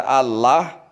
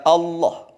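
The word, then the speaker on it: الله: Tidak dibaca Allah atau Allah atau Allah, tapi dibaca Allah.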